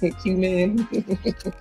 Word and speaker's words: cumin: And if you think about how Nikki put it, the letter Q and the word men, cumin.